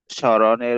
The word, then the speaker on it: স্মরণ: নাসিকে স্বর হয় যথা স্মরণের উচ্চারণ হবে স্মরণ শ্মশানের উচ্চারণ হবে শ্মশান